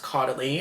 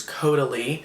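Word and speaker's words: Caudalie: cod which I realized is not pronounced cody. I've been saying it wrong all all this time. It's codily but it's codi cuz you know you have to do it French.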